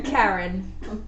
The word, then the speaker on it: Karen: Karen. Karen. Yeah. It's pronounced like carrion.